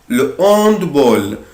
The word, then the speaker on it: le handball: طبعا أنا هنا الأش هي أش أسبيري، مش هتعرف أنت يعني أش أسبيري. هنا بكل بساطة الأش في الكلمة دي مش لتر فويل، فمش هتبقى ال أبوستروف، هتبقى le handball.